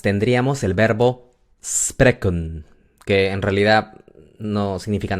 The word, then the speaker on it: spreken: Entonces tenemos spreken, que consta de 2 sílabas. Spray y kun. Spray, kun.